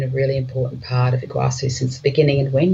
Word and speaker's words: Iguacu: Do you Iguacu? Yeah. And that has the benefit of helping people understand how to pronounce it. So Iguacu is a word that means big water.